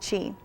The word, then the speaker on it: qi: talk called what is chi because you know you hear the word chi and you'll see it spelled you know Qi and it's pronounced Chi and people think you